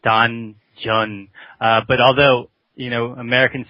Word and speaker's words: Danjeon: It's a Korean word, and we pronounce it Danjeon.